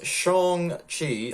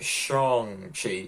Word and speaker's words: Shang-Chi: we go that was shang chi i know how to pronounce it now it's more like shang chi isn't it well that was shanxi